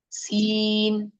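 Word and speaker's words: سين: it's a sharp letter there is a whistling sound coming outside s it's like the hissing of the snake hissing of the snake s like that okay so seen next letter is Sheen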